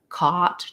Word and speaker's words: caught: would say is that for something like caught try to maintain the rounding and then make sure